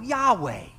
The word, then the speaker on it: Yahweh: for short i am it's pronounced in hebrew the underlying hebrew ahe you know yahweh you've heard that yahweh now obviously i'm taking